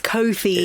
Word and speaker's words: Cofie: And I used to pronounce it as Cofie. Yeah. And then I corrected myself with Cofie. Wow. But it's Cofie. It is Cofie.